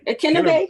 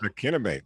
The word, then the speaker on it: Akinnagbe: Akinnagbe. Akinnagbe. There we go. Okay, yeah. See, I got to work on my pronunciation, but nonetheless, here we go.